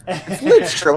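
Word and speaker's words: Lidström: Litz- Please, for the God, do not put an N in there. Well, as a Penguins fan, I don't mind getting his name wrong. You know. Hey, Lidstrom, how can you say anything bad about him?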